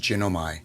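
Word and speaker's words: γίνομαι: In the original Greek is pronounced ginomi and translates to begin to be, to come to pass, to be made, finished, rot, happen.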